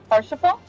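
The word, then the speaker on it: Haurchefant: you even pronounce that harant harant AR like R uh he's French so in uh French pronunciation you do not pronounce he wait you don't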